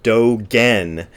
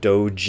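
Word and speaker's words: Dōgen: is G a G when you see G in transliterated Japanese it is always pronounced with a gust sound and never pronounced with a j-type sound if you see a J that's a G sound if you see a G that's a go always and forever therefore Doge n not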